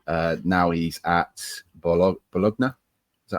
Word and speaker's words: Bologna: Uh now he's at Bolog Bologna is that how you say it in in Bologna. Thank you. Your Italian pronunciation is a lot better than mine.